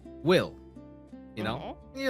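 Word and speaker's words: bhfuil: word, but the there's a word in Irish that's pronounced will. You know, you're like, "Oh, yeah, will." Like w i l l.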